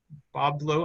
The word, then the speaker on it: Bois Blanc: They move down to the Bois Blanc Island, or Boblo Island, I think is how it's pronounced in the area, and then come back to basically adjacent to the Ottawas over in Windsor.